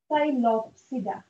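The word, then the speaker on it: Psilopsida: P silent है साइलोप्सिडा और इसकी एग्जाम्पल आ जाती है साइलोटम.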